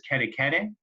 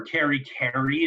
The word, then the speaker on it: kere kere: Please is kere kere, or keri keri is how it's pronounced.